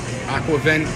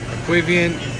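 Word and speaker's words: aquavit: and they have that aqua event i think is how you equavion is how you pronounce it i get a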